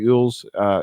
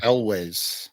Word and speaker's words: Elwes: thing to say that Carrie Ewells is how you say his last name, Owls or Ewells? Elwes.